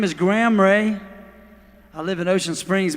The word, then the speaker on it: Rea: when but g-r-a-m and my last name is r-e-a ray and i've got a